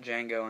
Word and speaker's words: Django: I like Django Unchained. You guys see that? The D is silent.